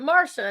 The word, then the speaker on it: Marcia: I'm used to My mom's like, "We're gonna spell it Marcia, but we're going to pronounce it Marsha and make everyone confused."